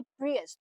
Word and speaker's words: Prius: ये गाड़ी है जी प्रियस Toyota PS कोई इसको प्री भी कहता है कोई प्रियस कहता है अगेन यूएस यूके